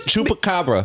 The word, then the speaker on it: chupacabra: I can't say that word chupacabra yeah you said it right did I get